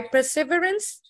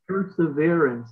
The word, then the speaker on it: perseverance: By perseverance in such practice. Perseverance, not perseverance.